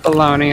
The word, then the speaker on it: bologna: that's air b-a-l-o-n-e-y right it's pronounced bologna over here it's America that sounds like a little baloney to me exactly make